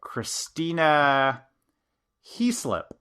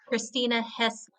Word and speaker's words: Christina Heaslip: Christina Heaslip. Close, but it is not correct. It is Christina Heaslip.